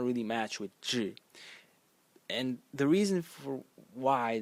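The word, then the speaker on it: 稚: the whole series, because phonetically it is slightly off in modern Mandarin. It's pronounced zhi, and it means immature, naive, or young.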